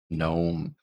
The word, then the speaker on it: gnome: behind but what about a word like gome gnome that g is not making any sound at all it's